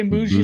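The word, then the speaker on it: Mougey: I say moo. I say it like bougie. I say Muji like bougie.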